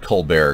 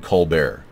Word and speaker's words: Colbert: is pronounced Colbert okay I call it co bear because it sounds kind of like French yeah I prefer that step col bear you don't mind if